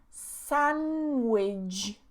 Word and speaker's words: sandwich: The next one, sandwich. Sandwich. Okay, so this D again removed. Sandwich. Sandwich.